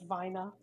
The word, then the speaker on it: Wiener: wiener the Wier actually if we're gonna pronounce it the way Germans would it's Vina oh my God I